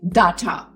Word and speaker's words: data: so they would say data data science data storage but it's not data it's data so da a it's D A Y the way we pronounce day the first half of